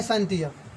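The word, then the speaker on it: scientia: और यही जो नॉन बना आगे जान के वो यही नॉन बना है साइंटिया। साइंटिया कहिए, सिंटिया कहिए, क्या कहिए, साइंटिया कहिए, सिंटिया। कोनो कोनो साइंटिया बोलता है, कोनो कोनो सिंटिया बोलता है, तो उतना कोई स्पेलिंग को मतलब नहीं होता है।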